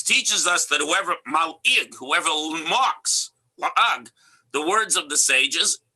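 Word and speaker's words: לעג: So the hey is one of the gutturals, so you can exchange it for an ayin, la'ag. Okay, that's the correct way to pronounce it.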